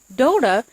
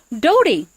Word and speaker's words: Dota: dota they found out it's not pronounced dota it's actually pronounced Dody and so I like